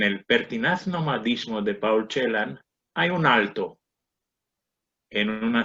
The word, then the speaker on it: Celan: Celan, como se ha dicho, es Ángel con inversión silábica y normalización ortográfica a la romana, por cuanto hay que pronunciarlo Celan, no Celan ni Celan.